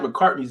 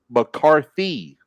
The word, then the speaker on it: McCarthy: the other day that I always say Mike McCartney's name wrong. Yeah, you do. You just said it wrong again. I thought you did. I thought you was doing that on purpose, but his name is McCarthy.